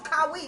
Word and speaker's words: Kawhi: that's- Like, his name is Kawhi. That's how you pronounce it.